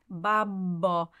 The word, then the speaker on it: babbino: pleading section babo P babo again it's a double b so we really need to hear that there's a little bit of lingering on the bab so that's our whole